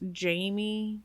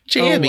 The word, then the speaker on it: Jammy: His name is supposedly pronounced Jamie, but is spelled Jammy. So if I mess it up, Jammy.